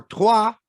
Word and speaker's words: Troyes: Yeah, or Troyes, as I'm told it's properly pronounced.